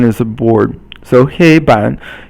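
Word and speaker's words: 黑板: And then 黑板黑 is first tone and then 板 is third tone. And so 黑板 is a blackboard. 板 is a board. So 黑板黑色黑 is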